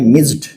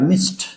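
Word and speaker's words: missed: rule पर ध्यान दें जब किसी भी इंग्लिश वर्ड के आखिर में डबल एस हो और उसमें लगे ईडी तो उच्चारण ड ना हो कर के ट होगा प्रोनंसिएशन क्या होगा ट तो आप अगर बोलते हैं मिस्ड गलत है आपको बोलना पड़ेगा मिस्ड मिस्ड आई मिस्ड द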